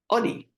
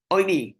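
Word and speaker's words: עני: Okay, so oini, it's indeed pronounced oini with a cholam, which means to respond, but ani ksiv, it's written without the cholam, it's written without the vav, meaning we can also read it as ani, poor person.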